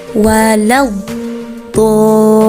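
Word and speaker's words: وَلَا الضَّالِّين: Cara membacanya yaitu panjang 6 harokat, dan di situ diiringi oleh huruf lam yang bertasydid. Jadi cara bacanya dinabar atau dihentakkan. Contohnya seperti ini ya. Walau dhalin.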